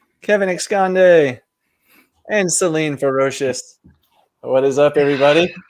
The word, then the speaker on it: Celine: That's the actual pronunciation. Yeah. Is it Celine or Celine? Celine.